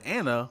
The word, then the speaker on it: Anna: Speaking of Anna, rhymes with Shanna.